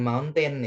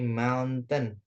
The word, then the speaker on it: mountain: Next, nah ini bacanya Bukan mountain ya, tapi mountain.